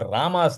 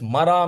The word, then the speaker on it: Rama: He was so illiterate when Narad Muni told him, Oh, Valmiki, please chant Lord Rama's name. He couldn't pronounce Rama. He started chanting it as Mara, Mara, Mara, Mara, Mara.